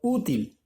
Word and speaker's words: útil: verdad última y penúltima útil ya lleva tilde en la u lo hace mayor fuerza de voz en la un correcto porque la hace la sílaba tónica está allí no puedo decir útil